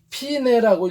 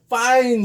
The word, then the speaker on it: fine: 이렇게 써 있는데 요거를 음악적 용어에서는 피네라고 읽어야 돼요. 근데 fine 이러고 읽는 사람이 있어요. 또 있어 보이려고 그것도 그냥 발음도 잘 굴려갖고 이걸 fine 이래가지고 읽는 사람인데 이건 fine이 아닙니다. 음악적 용어에서는 피네라고 읽어야 맞는 겁니다.